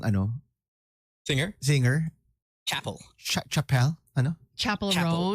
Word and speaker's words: Chappell: chapel R new singers I thought it was Chapelle like you see it and it looks like Chappelle because of the double p and the Double L so Chael uh but there's no e at the end so I guess it that's cuts off that end and it's just travel